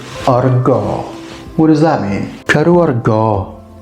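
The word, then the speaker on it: cadw argof: Kadu argo. You'll notice that the F there is silent at the end.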